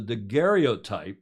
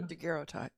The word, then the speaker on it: daguerreotype: At that time, the French Academy of Sciences announced the daguerreotype process. Is that how you pronounce that in French, Julia? Daguerreotype.